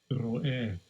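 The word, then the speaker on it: רֹאֶה: Ro'eh. Ro'eh. Right, that's how it's pronounced, but there you have it there, simple and plain.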